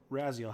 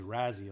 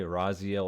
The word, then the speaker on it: Raziel: pronounce yours is it it is Razzie all right it's not like Razi yeah oh you can say Raziel or as EO either one worked yeah that's what I